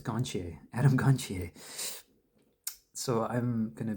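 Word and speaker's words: Gontier: But I've heard with um Adam Adam Gonier and the way you say his name, I thought it was Gantier. Gonier Adam Gantier. It's Gonier.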